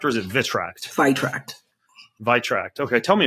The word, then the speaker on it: Vitract: Am I pronounce that correctly? The Vitract or is it Vitract? Chidozie: Vitract.